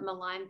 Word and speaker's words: Malan: she's actually going to talk to us about milan syndrome did i say it right yeah yes hi everyone i'm brandi um and my connection to milan syndrome is that i am one of the